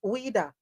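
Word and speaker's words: Ouidah: gift you're like okay how do you pronounce this um ad so o UI d a is it weeda yeah WEA WEA okay yeah so the slave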